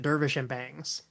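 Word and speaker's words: Dervish and Banges: told to pronounce it Dervish and Bangs, that the E was basically silent. Hmm. Because I've always wondered that. Dervish and Bangs.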